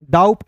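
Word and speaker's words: doubt: तो यहां पे देखिए बी को काट दीजिएगा टी का ट लिख दीजिएगा दोस्तों हो जाएगा डाउट डाउट नहीं पढ़ेंगे डाउट पढ़ेंगे क्लियर है तो नियम मैंने खुद बनाया है।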